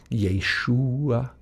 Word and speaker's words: Yeshua: The basic vowel pointing is preserved even in the Greek pronunciation. It's the same. Yeshua, Yeshu. So this U vowel is very much a part of the name Yeshua.